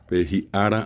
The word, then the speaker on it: ara: Ara.